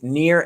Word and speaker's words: Nir: so my website is near and far dot com but near is spelled like my first name so that's n i